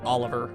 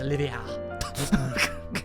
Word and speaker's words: Olivier: I really actually have just been calling this guy Oliver for, like, years. But no, he's Olivia.